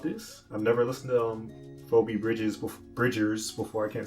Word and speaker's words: Phoebe Bridgers: I've been saying like her name wrong the whole freaking time. It's freaking pronounced Phoebe Bridgers.